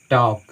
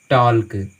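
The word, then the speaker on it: talk: यहाँ पर देखिए के से पहले बोला है, तो के से पहले आया है एल, हम इसको पढ़ते हैं टॉक, ना कि टॉल्क, वो गलत उच्चारण है, हम इसको पढ़ते हैं टॉक।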